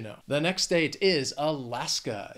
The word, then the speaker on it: Alaska: the next state is Alaska it has three syllables the stresses on that second syllable that final syllable just has that schah Alaska it is a beautiful state